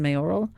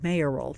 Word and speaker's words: mayoral: It's a name, not just a letter, who's running as a Republican in the Jackson mayoral. Or actually, the proper pronunciation is mayoral. Did you know that? It's not mayoral.